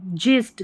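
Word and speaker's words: gist: या ग पढ़ेंगे, ज, जिस्ट, गिस्ट नहीं पढ़ेंगे, ठीक है।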